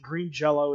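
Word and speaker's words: Green Jellÿ: it correctly it's not green jelly it's green jell the Y sounds like an o because of the little two dots on the top of it they had to [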